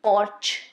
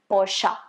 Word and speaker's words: Porsche: on the road it's not supposed to be porch or porsche it's supposed to be porsche the next one that i have for you